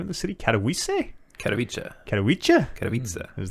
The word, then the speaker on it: Katowice: Katowice, IEM Katowice.